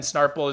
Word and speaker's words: Snarple: It's JUNOPII, and then Snarple is just how it's spelled, how it sounds, SNARPLE.